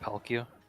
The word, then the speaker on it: Palkia: Is it still pronounced Palkia?